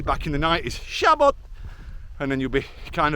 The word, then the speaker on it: Siabod: it written in English we kind of want to say saod but that's because as English speakers we think everything's an English alphabet but in the Welsh alphabet when you have an S followed by an i it gives you a sh noise the same as an S and a h in English which is why it's sha bod and not saod um I was used